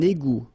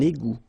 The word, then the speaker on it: égout: Un égout. Final T not pronounced. Un égout.